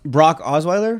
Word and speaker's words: Osweiler: Brock Osweiler?